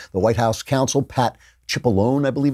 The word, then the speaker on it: Cipollone: The White House counsel, Pat Cipollone, I believe it's pronounced, wrote a letter saying, you have designed